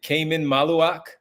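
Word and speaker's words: Khaman Maluach: Is it Cayman Malawak? Is that how you pronounce it?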